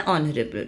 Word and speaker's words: honorable: O this h sound is not pronounced. So that's why an honorable judge.